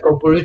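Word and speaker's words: Kökbörü: Is that the way you pronounce Kokboru? Kokboru, And yeah.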